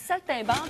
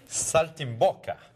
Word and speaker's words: saltimbocca: mal prononcé notre plat j'ai dit saltinban mais c'est pas ça du tout c'est saltimboka saltimboka ouais italien pas très bon